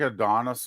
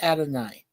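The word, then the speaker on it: Adonais: Yeah, isn't it like Adonis or? No. It's in Greek. It's pronounced Adonai.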